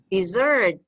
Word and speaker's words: dessert: syllables okay all right but the stress is on the second syllable dessert and don't forget